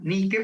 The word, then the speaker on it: Nike: nike o nike y realmente el nombre de la de la compañía norteamericana debería ser ni que por él sí sí pronunciáramos el nombre de la diosa no él no con acento anglosajón sino con el origen etimológico de la palabra que en este caso